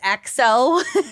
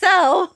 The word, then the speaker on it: EXO: sing is one example e EXO or I think it's pronounced XO just in layman's terms